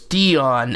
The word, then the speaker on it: Dijon: advocates for kratom and plant medicine this is dionne evans and this is her amazing kratom story you have quite a story and your name is dionne evans that's how it's pronounced right yes it is because when i